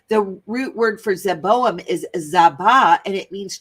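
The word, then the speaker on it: Zeboiim: it is adma and zavaim which is zeboam that's how you say it in Hebrew which Yahweh overthrew in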